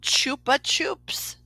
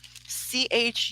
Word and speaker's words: Chupa Chups: are you talking about the rapper they're called Chupa Chups I hope I'm saying it right but it's c-h-u-p-a-c-h-u-p-s Chupa Chups and um like something about them